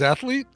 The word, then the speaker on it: athlete: Sportsman like that sorry do you want me to add an extra syllable and say athlete athlete because there's no extra vowel in the middle of the between the th and the L I'm just ath athes